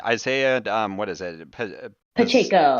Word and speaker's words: Pacheco: and i'm never going to be able to pronounce his last name right uh isaiah um what is it pacheco pacheco that's it yeah um i mean i know